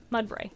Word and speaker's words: Mudbray: That's how it's pronounced? Mudbray, yeah.